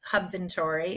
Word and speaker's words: Hubventory: We are new to Hubventory.